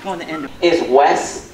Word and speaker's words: Wes: It's not Les with an L, it's not West with a T, it's Wes, check it out, Wes.